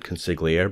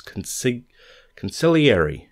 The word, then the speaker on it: consigliere: For the longest time, I said Consigliere, but it's Consigliere, I believe.